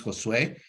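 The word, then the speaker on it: Josué: Josh something else uh my name is Josue even though many times people are not able to pronounce the name correctly uh if they pronounce it Joshua Josue right because uh at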